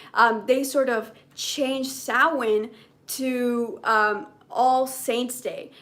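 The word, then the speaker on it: Samhain: So it's it sounds like sam hayne, but it's pronounced sin.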